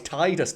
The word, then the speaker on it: Tidus: It's like Tidus. It's actually Tidus. It's like, no, fuck off, it's Tidus. Tide water, you ass.